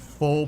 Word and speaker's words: pho: There's a lot of Vietnamese food, like pho places and other stuff. Or actually, it's pho, right? It's pronounced it pho places and stuff like that.